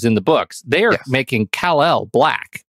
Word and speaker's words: Kal-El: a different book where his name is spelled K-A-L-E-L, right? And so, you know, I imagine it's pronounced Kal-El, but I come from a predominantly Black family, so I know his mama called him Khalil, right?